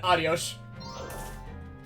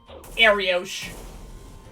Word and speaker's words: Arios: I said I said adios. Said I said that like such an American. That's Arios kind.